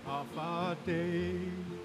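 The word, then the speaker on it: Afaadai: It's better, I know you ever, and you spell it A-F-A-A-D-A-I. As easy as 1, 2, 3, just pronounce it like half a day.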